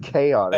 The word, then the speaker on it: Chaotix: It's pronounced chaotic, Hey.